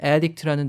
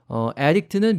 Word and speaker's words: addict: 그 다음에 중독은 addict라는 단어를 잘 활용하시면 되는데요. addict는 명사로는 이제 중독된 사람이나 중독을 뜻하고 발음도 addict 이렇게 강세가 앞쪽에 가고요. 중독시키다라는 뜻으로 동사로 쓰면은 addict 이렇게 뒤쪽으로 강세가 가죠.